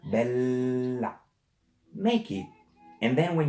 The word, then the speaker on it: bella: You must, not you have, you must pronounce the double. Because we read what we see. So this word, it's not bella, it's bella. This is not mama, it's mamma. And this is not pizza, it's pizza.